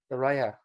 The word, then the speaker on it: Saraya: Anyway, how do you pronounce her name? Saraya.